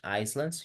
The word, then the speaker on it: islands: Okay, so remember we say isla se pronuncia island, so you don't pronounce the S, right? We say no islands, ni islands, you would say islands.